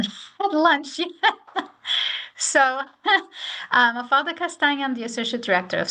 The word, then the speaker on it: Castanha: I'm the first one on that list, Mafalda Castanha. Now it rhymes with lasagna, and it's making me hungry, and I haven't even had lunch yet. So, Mafalda Castanha, I'm the Associate Director of Scholarships.